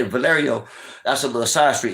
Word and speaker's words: Valerio: ] down on valer and when I say Valerio that's a little side street it's spelled v a l e r i o